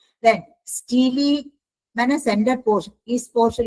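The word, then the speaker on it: stele: देखो single layer of parenchymatous pericycle is present below the endodermis which bounds the स्टेले और vascular cylinder स्टीली इसको pronounce करते हैं स्टीली।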